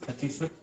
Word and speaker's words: Sacisuta: मेरा नाम माता जी सची सुत, बहुत लोग प्रोनाउंस नहीं कर पाते हैं, हाँ, सची सुत, हाँ, सची सुत ।